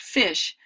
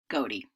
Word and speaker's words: ghoti: So GHOTI really would not be pronounced fish, but rather goatee.